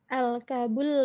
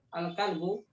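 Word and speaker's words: الكلب: Al-kabul ladhi fil hadiqati Yang maridun. benar bacanya. Al-kalbu.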